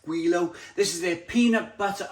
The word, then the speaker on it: Gweilo: had a few of them i think i'm pronouncing it right guilo this is their peanut butter and raspberry jam